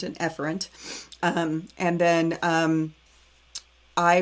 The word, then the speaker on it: efferent: it back out do i go afferent or efferent i go efferent again but this time do